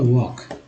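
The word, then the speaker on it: walk: जैसे देखिए वर्ड भी बनता है डब्ल्यू ए एल के, क्या हो गया वॉक।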